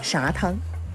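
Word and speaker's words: 撒汤: 商丘方言中的撒和啥的读音很相似，于是撒汤常常被念成啥汤。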